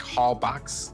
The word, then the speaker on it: Holbox: It's spelled like Holbox with an X, but I believe they pronounce it Holbox.